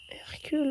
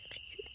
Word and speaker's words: Hercule: Il y a un qui se prononce pas. Ouais, regarde là, tu as le modèle ici si tu veux. Oh, tu es forte. Hercule.